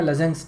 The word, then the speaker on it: Lassaigne: इसका प्रोनाउंसिएशन थोड़ा सा डिफिकल्ट है, what ever it is, think it's लजेंग्स test. Okay, लजेंग that is the correct pronunciation, लेकिन अलग अलग लैंग्वेजेस में या अलग अलग जगह पे इसका अलग अलग प्रोनाउंसिएशन आता है, so don't worry about it. Okay, you can call it what ever you want, just try टू बी as close to एज लजेंग I guess.